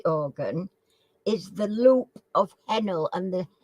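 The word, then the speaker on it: Henle: which human body organ is the loop of Hennel and the it's spelled h-e-n-l-e henna oh no I know I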